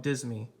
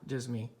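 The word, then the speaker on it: disme: 100 years or less the word dime was originally spelled and pronounced differently the denomination was called dismi and was one of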